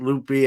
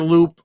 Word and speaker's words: Loupe: You know how some people mispronounce it, Loopy. I don't get that. But where did the name? When I hear Loupe, I'm in the grading cards.